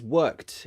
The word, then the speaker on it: worked: night um lavinia says worked is pronounced with a t because it's unvoiced exactly that's another good